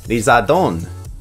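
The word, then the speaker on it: リザード: Charmeleon and Charizard are known as Lizardo and Lizardon. Both names derive from the English word lizard, which is pronounced as Lizardo.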